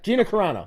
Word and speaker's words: Gina Carano: He came out and defended that co-star Gina, I can never pronounce her name. Gina Yeah, Gina Carano. Carano? Yeah, Gina Carano.